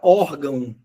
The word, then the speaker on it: órgão: Tanto é que a palavra órgão, a sílaba tônica é o or, não é o gão.